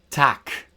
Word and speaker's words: tac: C as in English K, so k. And this occurs at the end of words, finally, uh before back vowels, and back vowels are A, O, U, and before consonants. So, we have our examples here. Tac. Day. Corn.